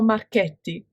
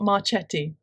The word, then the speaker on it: Marchetti: And it's I just want to say, it's Ciro Marchetti, it's not Marchetti.